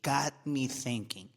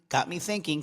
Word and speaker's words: got me thinking: Got me thinking. 15 seconds. Got me thinking. Got me thinking. Got me thinking. Don't pronounce the T.